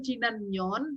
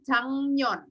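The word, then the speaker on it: 작년: adalah ahir Minggunya kalau tahun lalu bukan Cina Nyon tapi changyeon caption bulan lalu tahun lalu ya bacanya dracang Canyon bukan caption kalau tahun ini bahasa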